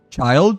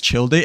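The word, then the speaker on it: Childe: So like you know I refuse to pronounce him as a child because you know there's an e right after his name. So like uh yeah like I I've I have been I have been always pronouncing him as Chill Day ever since the day that I first saw him and whatnot.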